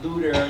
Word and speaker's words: Luther: Of course, in German, Luther, you can't spell it. You can't say a TH in German. It just doesn't happen. So it's Luther, even in German as it's spelled now.